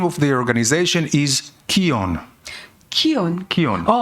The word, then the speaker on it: KION: 키온. KION. 그 단체 이름이 뭐냐면 키온이에요. Now, what is KION? 여러분 키온이 뭔지 아세요? Korea, Israel, one. 예, 한국과 이스라엘이 하나라는 뜻입니다. And KION also rhymes with Zion.